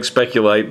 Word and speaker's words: Spectrolite: But I personally like Spectrolite better than Spectrolite.